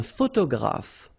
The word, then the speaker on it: photographe: Un photographe. So here ph and here ph. Pronounce it like f, f, f, f.